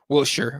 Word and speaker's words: Wiltshire: the uk so and i'm saying it wrong on purpose because he hated it i said wilshere i think it's will sure a wilshire or something like that but i thought we'll shower on purpose because he hated that